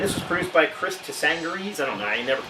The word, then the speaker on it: Tsangarides: And this was produced by Chris Tsangarides. I don't know, I never pronounce that guy's name. Tsangarides!